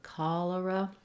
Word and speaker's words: cholera: We have first syllable stress in cholera, so it's long, short, cholera.